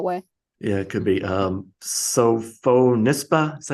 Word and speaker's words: Sophonisba: yeah, it could be Sophonisba. Is that how you say her name? Sophonisba. Sophonisba, yeah, Aunt Sophie, as she's also called.